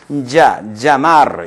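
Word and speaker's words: llamar: 자마르 예를 들자면 자마르 자베 야호 하듯이 산에 가서 야를 약간 깨무는 듯이 자마르 자베 이런 형태로 발음을 해주도록 하세요.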